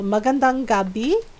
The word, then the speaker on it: magandang gabi: Mong gab so it looks like that so magandang Gabi is how you say good night in Tak